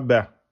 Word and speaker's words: ب: Mais en arabe, si on vous dit qu'est-ce que c'est comme lettre, ça se prononce, c'est la lettre Ba, pas Ba. Ba en deux temps.